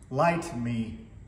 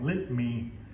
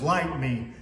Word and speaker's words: Lytmi: to pronounce the name I thought that it was light me ly TM I but I watch several videos and they're all calling it lit me so I went uh to my original email where the manufacturer of the product actually includes the pronunciation as light me so these are the